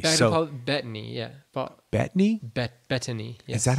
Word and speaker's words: Bettany: it happened but but anyways back to Paul Bentley so yeah bad knee bet Bettany yes that's how you say his name yeah